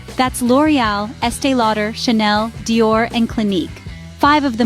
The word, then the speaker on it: Dior: it's not di or Dior the right pronunciation is Dior with a soft d and a stress on or finally we ended with